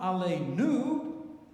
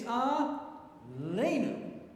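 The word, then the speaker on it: עלינו: So that word Aleinu is milel. It's not Aleinu, it's Aleinu.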